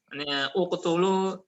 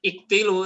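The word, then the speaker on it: اقْتُلُوا: Uqtulu Yusuf ya, uqtulu Yusufa misalnya. Bukan iktilu ya, tapi Nah, ini ya jelisu.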